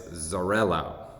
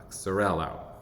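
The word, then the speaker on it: Xarel·lo: And I'm sure I'm going to pronounce this varietal name wrong, but it's Xarello. It's spelled with an X, X-A-R-E-L, period, L-O, Xarello.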